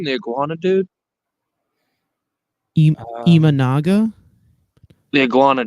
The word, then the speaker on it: Imanaga: say that guy's last name the Iguana dude imanaga the Iguana D yeah that's his name the